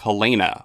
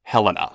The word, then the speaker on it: Helena: throttle behind singles like Hellena or Helena if you're someone that pronounces it that way named after Gerard and